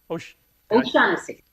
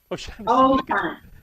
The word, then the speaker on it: O'Shaughnessy: O'Shaughnessy. O'Shaughnessy.